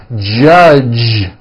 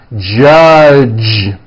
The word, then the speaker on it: judge: that is not right the J sound in American English is always voiced judge like that for